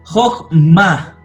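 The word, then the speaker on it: חָכְמָה: En la sílaba cerrada no acentuada el camet es catán, es decir, una O.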